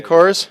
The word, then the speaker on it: Corps: Marine Corps. Yeah, Marine Right? Corps. Marine Corps. Yeah, Sorry, with the S is silent.